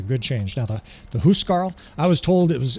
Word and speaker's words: Huscarl: Now, the the Huscarl, I was told it was they're they're pronounced Huscarl, like H O Carl.